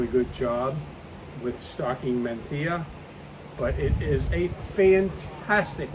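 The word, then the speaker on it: Mencía: found exclusively in Spain called menthea and I'm using the Spanish pronunciation there you're going to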